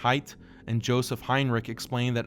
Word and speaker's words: Haidt: World renowned psychologists and researchers like Jonathan Haidt (pronounced “Height”) and Joseph Heinrich explain that high analytical thought is correlated with less of what’s called “Deontological Morality.”